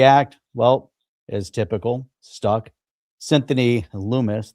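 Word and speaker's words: Lummis: The Clarity Act, well, as typical, stuck Lumis, that rhymes with humus, right?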